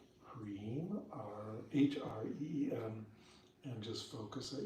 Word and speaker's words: Hreem: Now we'll do just a little bit of seed syllable chanting, and we'll just stick with Hreem, H-R-E-E-M.